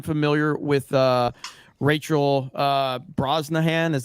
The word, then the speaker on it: Brosnahan: uh I am familiar with uh Rachel uh Brosnahan is how you say it because she was